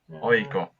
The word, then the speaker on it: AIK: I would say we say AIK. It's like it's like 3 letters. You say them separately. AIK.